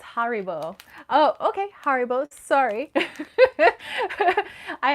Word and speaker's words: Haribo: um let's see lady night said uh it's haribo oh okay haribo sorry i actually never knew the correct pronunciation but thank you um this is when